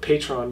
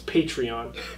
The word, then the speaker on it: Patreon: I called it Patreon before. It's Patreon.